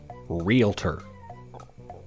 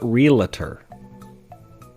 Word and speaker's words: realtor: It's pronounced realtor. Realtor, not realtor.